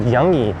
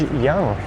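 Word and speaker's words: Yonge: You don't really think of y o n g e as making that short vowel u sound, but in this case it does. It was named after Sir George Young.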